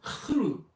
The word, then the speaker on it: Cthulhu: I'm the ever excitable Adam, and today I'm going to be covering the topic of Cthulhu, or Cthulhu as it's pronounced properly.